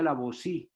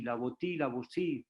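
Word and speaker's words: La Boétie: No sé ustedes, pues algunos que tienen una gran cultura, ese texto de Etienne de Lavoisier, que se pronuncia Lavoisier, Lavoisier, pues sí.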